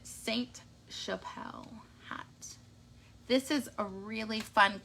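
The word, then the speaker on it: Sainte-Chapelle: this month is the sun Chappelle hat or Saint Chappelle I always want to say song but there's an e at the end which means the T you pronounce it Saint Chappelle this is a really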